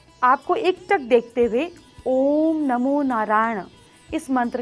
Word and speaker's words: ओम: उच्चारण करना कैसे चाहिए देखिए ओम का उच्चारण जो है सबसे पहले आपको इसको आ ओ म इस तरीके से तोड़ के करना चाहिए जब आप आ बोले तो आपकी नाभि ओ बोले तो आपकी चेस्ट और म बोले तो आपकी माइंड आपके ब्रेन में वाइब्रेशन होनी चाहिए जैसे आओ